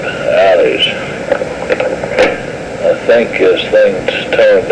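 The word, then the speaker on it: Ali'i: And so after a good deal of confusion, we were placed in a brand new facility called the Alley, I think, spelled A-L-I''I. I would have pronounced it Alleys.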